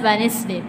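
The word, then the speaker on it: Wednesday: वेनेसडे is pronounced as वेनेसडे, द डी एंड the sound E R silent hair.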